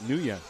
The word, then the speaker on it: Nguyen: And he always told us to pronounce it Nguyen. That's how he told us to say it.